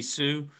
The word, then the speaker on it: SISU: yep uh jim grundy ceo and honor of sisu energy uh that's pronounced s-i-s-u-c sioux uh it's in the european term uh been